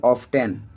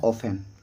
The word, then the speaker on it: often: Word लेते हैं OFTEN, अधिकतर व्यक्ति प्रोनाउंसिएशन करेंगे ऑफ्टेन, इसको क्या पढ़ेंगे, ऑफ्टेन। लेकिन इनको रियल जो उच्चारण होता है, रियल प्रोनाउंसिएशन जो होता है वो होता है ऑफेन। क्या होता है, ऑफेन, क्योंकि इसमें टी जो है वो साइलेंट होता है।